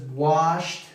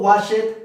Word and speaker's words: washed: Entonces, washed, helped, watched, looked, liked. Okay, así va a sonar. No was it, no help it, no watch it, no look it, no like it.